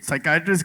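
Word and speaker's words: psychiatrist: व्हाई इज द P silent इन ओहो साइकेट्रिस्ट में पी है पहला। फिर होता है। नहीं वो पहले पिसाइयाट्रिस्ट था।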